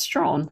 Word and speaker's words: Strachan: I'm constantly correcting people because they say Strachan and I'm like, no, it's Strawn.